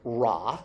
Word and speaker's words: Ra: Sun, as we know, is pronounced Ra, like the sun god Ra, which is a circle with a dot in it.